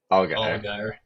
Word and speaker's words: Allgeyer: How do you pronounce it? Algar.